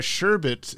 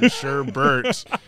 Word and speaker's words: sherbet: So sherbet is the correct pronunciation. Sherbert is just incorrect pronunciation.